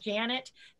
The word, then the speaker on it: Janet: Well, the good news is that my name Janet does indeed rhyme with planet.